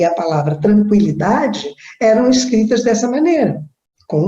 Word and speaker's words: tranquilidade: polpa isto a palavra linguiça e a palavra tranquilidade eram escritas dessa maneira com o tema o